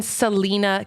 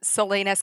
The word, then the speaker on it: Salina: Aveo of veil Family Farm And that's in Selena Kansas am I pronouncing that right no you're not everybody pronounces it like uh Salinas California it's Salina do you know what's funny